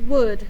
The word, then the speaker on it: would: to play with us so wood is a rule breaker you just have to memorize that but once you